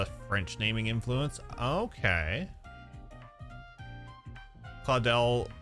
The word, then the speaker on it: Claudel: Claudel, but in the Japanese, they say Kurodero.